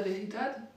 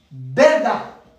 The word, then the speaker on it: verdad: Je peux dire la veridad ? La veridad ? Non, non. Alors, on dit dira, dira, la verdad.